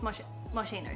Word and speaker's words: Moschino: Yes, Moschino, that's how you say it.